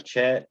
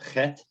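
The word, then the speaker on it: ח: is called a head it's not a chat or a hit it's a hat you got to get a little bit of the back of the throat there and it looks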